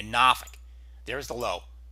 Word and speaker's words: Norfolk: pressure over downtown Norfolk yes I say it another way the correct way to say it supposed to say it in Virginia Norfolk there's the low right